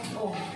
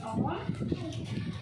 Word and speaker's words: ohm: Karena ini ada orang yang menemukannya, maka R itu satuannya adalah ohm.